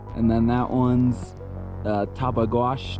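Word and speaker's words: Tabeguache: then that one's uh tabag wash tabagwash um top of wash actually you pronounce it top of wash so and then when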